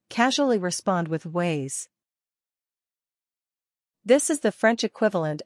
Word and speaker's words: ouais: This French phrase should be pronounced as s'il vous plaît. Part 2 Slang Yes. 1. Casually respond with ways.